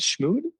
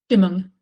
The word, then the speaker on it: Stimmung: I can't pronounce that word. You said schmood? Stimmung.